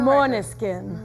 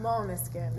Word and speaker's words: Måneskin: On the Måneskin. Måneskin.